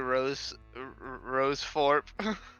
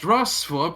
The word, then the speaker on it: Rossthorpe: Do you happen to be a Rose Forp? It's pronounced Rossthorpe, and yes.